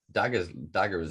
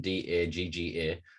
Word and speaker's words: dagga: So there's for sure a culture that just, I mean, Daggers is known, that's poor pronunciation, Dagga, as South African is,